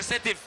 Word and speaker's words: Sétif: Alors pour prononcer parfois, ils disent sidav, c'est sétif. Mais voilà, c'est en arabe, bien entendu.